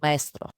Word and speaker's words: Maestro: I'm going to use the Greek pronunciation, Maestro. So like a conductor.